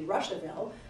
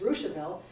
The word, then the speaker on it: Rushville: Rushville gets its name, it's not because it has anything to do with Russia, and that's why it has that very peculiar pronunciation. It looks like it should be Rushville, but it's Rushville, and that's because it really is Richardville. It is named after Richardville.